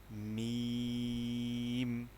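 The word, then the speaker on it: ميم: লাম লাম মিম। যখন আমরা মিমটা উচ্চারণ করব মিমের ক্ষেত্রে দুইটি ঠোট একসাথে হয়ে উচ্চারণটা আসবে। যেমন মিম নেক্সট হরফ নুন নুন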